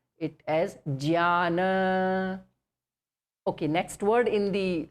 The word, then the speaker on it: Jnana: So we will stick to the first way of pronouncing it as Jnana.